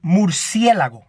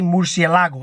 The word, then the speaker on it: murciélago: Bat in Spanish is murciélago. I know these white people say murciélago, and it's not how you say it.